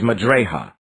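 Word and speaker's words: مجريها: Its pronunciation is not Majreha, but it is Majraya.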